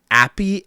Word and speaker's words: appy: Apey ending? Appy ending? It's because they're apes. E-Y? A-P-P-Y. Not happy ending, not apey ending, but appy.